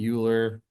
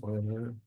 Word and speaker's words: Euler: will talk about some Oilers method it's not pronounced uler by the way it is pronounced oil if anyone's pronouncing it uler they wrong it's the guy's name it was pronounced oer okay so let's look at this next one